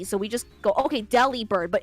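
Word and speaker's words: Delibird: How would you say its name? Deli Bird. Okay, that's what everyone says. They said Deli Bird, but someone was like, "Isn't it delivered?" Oh my god. It's a delivery bird.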